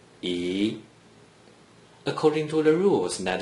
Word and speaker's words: 一: According to the rule that you just learned, a single digit 1 without any other digits in the first green circle is pronounced E.